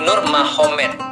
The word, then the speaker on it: Nurmagomedov: sana Muhammad jadi mahomed jadi tulisnya magomed Tapi bacanya mahomed kan gitu kan Ya jadi Nur magomedov itu jadi Nur mahomed Jadi maksudnya Nur Muhammad